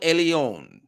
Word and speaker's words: Elyon: can hear it but he's pronouncing it ale not L ale Elion the most exalted power